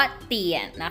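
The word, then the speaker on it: 点: คะ ตัว นี้ นะ คะ ออก เสียง ว่า เตี่ย นะ คะ ตัว นี้ คือ เปลี่ยน นะ คะ เตี่ยน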